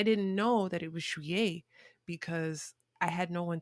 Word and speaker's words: juillet: remember the word July, I always pronounced it as Juliet, like Romeo and Juliet, because I didn't know that it was Juillet, because I had no one to pronounce the word for me.